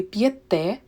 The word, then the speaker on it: п'єте: In ми, ви, the stress is on the last syllable. Ми п'ємо, ви п'єте. And in the rest, it is on the first syllable.